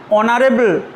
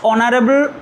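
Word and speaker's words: honorable: কিন্তু এই এইচটার প্রনাউন্সিয়েশন কিন্তু হ নয়, অ, অনেস্ট, অনারেবল, অনার।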